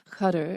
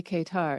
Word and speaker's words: Qatar: Although one woman was telling, she pronounced it in Arabic, which was Qatar, and then she's like, but in English we say Qatar. And I'm like, that means that Qatar is the real pronunciation, okay?